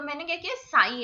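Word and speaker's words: psi: तो मैंने क्या किया, साई है, साई मतलब इसमें बस साई साई सी सी जैसा प्रोनाउंसिएशन आ रहा है, तो इसको मैंने सी सी ही याद कर लिया।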